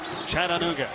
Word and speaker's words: Chattanooga: How about these mock fans making the trip up from Chattanooga? Four syllables. That's right. Chattanooga, home of Cracker Barrel.